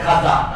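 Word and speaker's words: خواجه: খাজা ফারসি শব্দ খা ওয়াও আলিফ জিম খাওয়াজা উচ্চারণ কঠিন এজন্য সহজ ভাবে প্রচলিত হয়ে গেছে খাজা আর খিজির যে বলতেছে এই শব্দটা খায় খাদির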